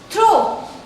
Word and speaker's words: throw: Last word के pronunciation में this word is throw. O. The last sound is coming O. And here what I am saying through. The last sound is U.